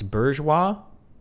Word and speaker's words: bourgeois: Stop dropping the R in bourgeois. It's bourgeois. It's a bastardized imitation of the French pronunciation, which includes the R.